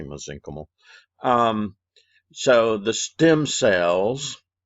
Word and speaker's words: mesenchymal: cells or mesenchymal cells sometimes you hear pronounced mesenchymal i say mesenchymal um so the stem